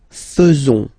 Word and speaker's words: faisons: So it's quite strange because French people tend to pronounce faisons. Okay? So like here, this AE is not pronounced like normally we should pronounce it like E, but then like Okay, nous faisons, nous faisons.